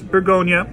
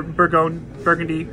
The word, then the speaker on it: Bourgogne: It just says Bourgogne, or Burgundy, you know, if you wanna be the more Americanized pronunciation.